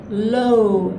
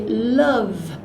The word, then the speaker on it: love: in pronouncing that, and you actually say it as a W. So for example, many students have asked me if my marriage was a low marriage. It is a love marriage, and it's very important